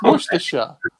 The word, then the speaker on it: Worcestershire: steve's more sort of you're missing the end of it off your sauce it's worcestershire yeah i know like